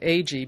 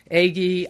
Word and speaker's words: Agee: posthumously now my surname AG became a bigger problem than the many mispronunciations I'd grown used to correcting eggie eggie eggie when people heard my